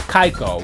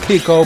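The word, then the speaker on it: Keiko: no i don't and it's pronounced kaiko which i always started with chico but nope k-e-i-k-o is kaiko k-i-k-o is kiko so rachel do i have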